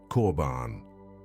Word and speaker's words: korban: In the ancient Hebrew tongue, it is transliterated as korban, pronounced korban.